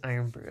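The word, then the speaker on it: Irn-Bru: um pronounced as iron brew.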